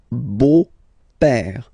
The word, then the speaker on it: beau-père: So, père, okay, father, so father-in-law, okay, in French it's le beau-père, the beautiful father, le beau-père. So remember this E-A-U combination of vowels only give you the sound O, beau, okay, le beau-père.